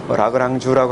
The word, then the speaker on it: 라그랑주: 사실 이 라그란제라고 저는 읽습니다만은 물리책에 사전에 보면 라그란주라고 나오죠. 그죠? 어떤 데는 라그란지라고 본토 프랑스 발음으로 라그랑주라고 하는 책도 있고 여러 가지 발음이 있는데 어쨌든 물리 쪽에서 많이 써요.